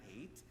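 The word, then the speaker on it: Haidt: get this from Jonathan eight his name I think is pronounced more like height but I think it's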